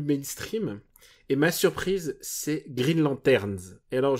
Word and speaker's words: Green Lanterns: Et ma surprise, c'est Green Lanterns. Et alors, je prononce bien Lanterns à la fin.